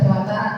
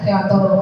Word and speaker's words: Dewantara: Bapak Ki Hajar Dewantara saya seangnya bacanya di haajar Dewantara ada yang baca diajar Dewantoro sama ya ee pendidikan menurut beliau